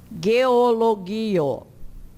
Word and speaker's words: geologio: O G, o go, diante do e e do i, é pronunciado da mesma forma como diante do a e do o e do u. Geologio.